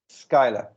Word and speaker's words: Schuyler: the internet somewhere it says how do you pronounce it first of all oh skylar skyler bernstrom spent spent a great deal of his